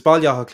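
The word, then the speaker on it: Baile Átha Cliath: It's Balyah is what we call Dublin and Irish now.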